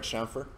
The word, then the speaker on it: chamfer: Am I saying it right, chamfer?